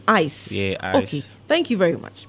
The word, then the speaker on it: Hyce: changing the spelling okay different spelling and the same pronunciation ice okay it's ice so it's not he